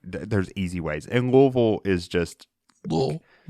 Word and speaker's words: Louisville: gonna go up to Louisville Kentucky and anyone listening from outside of Kentucky it is Louisville Louisville I hate that I